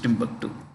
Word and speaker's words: Timbuktu: heard of a place called Timbuktu this is Timbuktu you know it's called tomu here but it's usually pronounced Timbuktu okay uh Jordan is a pro West monarchy